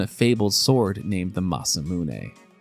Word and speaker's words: Masamune: Other people mention a fabled sword named the Masamune. That's how you pronounce it. But I don't blame you for getting that one wrong in the mid-90s.